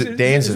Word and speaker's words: DAZN: Is Danzens. that how it's DAZN. pronounced? Is it DAZN? DAZN, yeah. It's DAZN. D-A-Z-N. That's how you pronounce it.